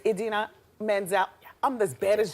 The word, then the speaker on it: Idina: Adina? Idina. Oh, I said it wrong. It's Idina Menzel.